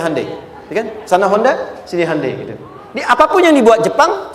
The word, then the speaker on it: Hyundai: bikin Honda sini Handai hyundaikan dibacanya Handai sana apapun yang dibuat